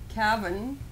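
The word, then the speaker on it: Cavan: news in peterborough and what looks like caven uh yeah you have to pronounce it cabin um and uh monegan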